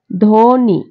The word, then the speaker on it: ধ্বনি: ফলার উচ্চারণ তো দেখো শব্দের প্রথমে ব ফলা ব ফলা থাকলে ব ফলা উচ্চারিত হয় না হয় না দেখো উদাহরণ দেই যেমন ধ্বনি উচ্চারিত হবে সঠিক উচ্চারণ হবে ধ্বনি তারপরে দেখো যদি লিখি